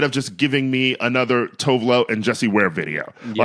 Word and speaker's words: Tove Lo: I do want to say, by the way, that I was undereducated about how good Tove Lo's videos are.